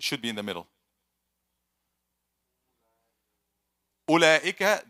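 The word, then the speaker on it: أولئك: Ulaika, there's waw, but it's silent. It's actually silent.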